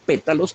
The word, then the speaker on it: pétalos: Son palabras muy acentuadas, con acentos muy incisivos, y ambas son esdrújulas, de modo que las últimas 2 sílabas son débiles.